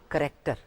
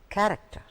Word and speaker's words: character: The word is not character, it's character.